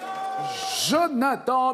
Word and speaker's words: Jonathan: 0, la tête à Jonathan, bienvenue. Je prononce bien? Oui, parfait.